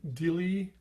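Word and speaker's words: dili: a high a doubling it's spelt d-i-l-i and if you tried to sing that it's not dylai it's kind of a soft dice a dilly dilly like a dilly bar from the dairy queen and you think of it as d-e-a-l-i and that's what you want really i'm dilly i'm dilly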